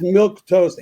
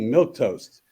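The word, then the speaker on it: milquetoast: that's not how you spell it how you spell it Boys and Girls It's milk toast m-i-l Q e u e t o a s t milk toast yeah it's not like you put a piece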